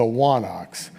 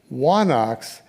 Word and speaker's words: wanax: In Linear B, that word appears with a letter that went out of use by classical Greece called a digamma, and it's pronounced as a W, so wa and then onox is the idea.